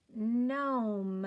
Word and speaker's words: gnome: Uh-oh, there's G hanging out with N again. And so we're going to cross him out because he doesn't say anything.